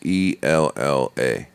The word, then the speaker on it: Ella: All right, LMA, maybe but like maybe the way it's you say different it for is white people. you- How do you pronounce ELLA?